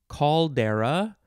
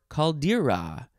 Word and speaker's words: caldera: know what that is next is caldera could also be pronounced caldera or caldera c-a-l-d-e-r-a noun from 1691